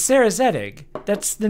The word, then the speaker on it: Zedig: It's Sarah Zedig.